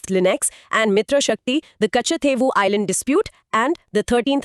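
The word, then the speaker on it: Kachchatheevu: Pronounce it slowly. Kachathevu.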